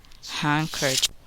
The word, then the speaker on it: handkerchief: The letter D is silent in the following words. Wednesday, grandfather, grandmother, grandchildren, handkerchief.